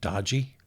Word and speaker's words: DOGE: I pronounce it dodgy because that's what it is.